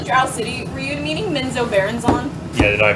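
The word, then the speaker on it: Menzoberranzan: When you said the Drow City, were you meaning Menzo Baronzon? Yeah, did I mispronounce it again? You said Menzo Baron. You missed the last syllable, and I just wanted to make sure for I mean, my notes.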